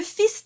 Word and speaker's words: fils: Le fils du roi s'en va chassant. So that word fils is coming up. So that S is definitely pronounced, but the L is silent because we're talking about the king's son, the prince.